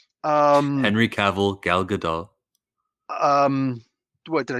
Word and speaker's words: Gal Gadot: to need henry cavill gail gadot um henry cavill gal gadot um what did i say it wrong yeah you keep calling her gail what's her name gal gal okay guys and gals